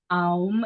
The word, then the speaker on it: Om: Om is actually a 3-syllable sound, and then Gum is